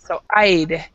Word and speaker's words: I'd: So make sure that you're pronouncing the I duh go part. along with that. I'd go along with that. Okay. Yeah, because I didn't hear the duh part. So I'd.